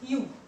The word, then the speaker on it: ewe: This word's pronunciation is U, and it starts with vowel.